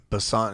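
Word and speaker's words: Annie Besant: woman named annie bassante bessant is spelled b as in boy e-s-a-n-t and um she ended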